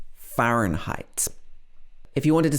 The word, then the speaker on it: Fahrenheit: This is a German word, but in English, it's pronounced Fahrenheit. Fahrenheit.